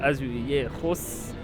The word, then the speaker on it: azulejos: Et donc juste derrière moi en fait on retrouve des bâtiments avec des façades azulejos. Exact, c'est à peu près comme ça, j'arrive pas à le prononcer. Azulejos, voilà exactement.